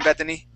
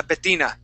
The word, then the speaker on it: Betina: how are you doing Bethany oh golly I pronounced it wrong uh Betina I don't know why